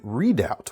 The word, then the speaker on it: Redoubt: We've also got the Benchmade Redoubt, which O-U-B-T, it's spelled slightly different, and it's not quite as